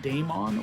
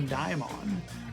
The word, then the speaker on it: Daimon: get a lot is do you pronounce it Daemon or diamond and as far as this channel is concerned you've probably heard me do both I use both pronunciations uh Daemon and Daimon are both transliterations of a Greek word and so transliteration